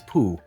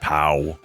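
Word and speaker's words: Pough: a bug bear and his name is Pooh it's spelled p o u g h i see it doesn't it doesn't work right I mean you can't it's not pow it's well I'm sure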